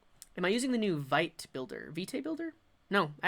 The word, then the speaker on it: Vite: It's pronounced vit.